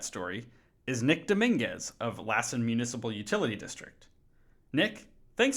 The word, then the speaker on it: Lassen: to pronounce it correctly is it l or Lassen yeah it's Lassen County and I I hear it both ways so thanks for asking